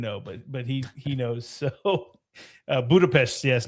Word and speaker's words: Budapest: For some reason, Vic knows 0 people from this city, but yet he says that the correct way to say it is Budapest. So if you're from there, that's just what they call it.